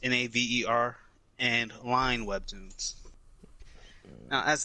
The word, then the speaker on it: Naver: And it is published by, I think it's pronounced Naver Webtoons, Naver, and Line Webtoons.